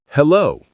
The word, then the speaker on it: hello: Hello. It has two parts with the stress on the second part.